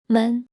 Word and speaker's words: 们: They form the character men which is pronounced the same as men but represents multiple people.